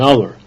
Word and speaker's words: hour: And used if the H or H is silent, an hour, an honor, an honest person.